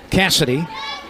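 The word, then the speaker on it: Kasidi: She spells her first name K A S I D I. Cassidy.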